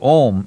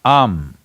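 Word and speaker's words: Aum: umarian there is also it is not to be said as om it is am it is just three sounds if you see these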